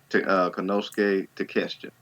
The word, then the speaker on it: Konosuke Takeshita: Konosuke Takeshita.